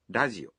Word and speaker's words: ラジオ: Also note that the R in radio is pronounced somewhere between an R and an L sound.